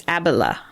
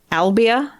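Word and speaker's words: Abila: names in that one couple hopefully i didn't butcher them too too badly uh well your dyslexia the name of the town it's abela what'd i say albia i did dyslexia that yeah which i completely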